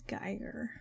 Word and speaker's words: Geiger: It's Geiger. According to the German pronunciation.